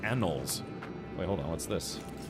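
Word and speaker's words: anoles: Uh I I don't know how I some people pronounce it anolies, but I think it's just pronounced annoles.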